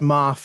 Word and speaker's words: Maff: So it's pronounced Maff, is it?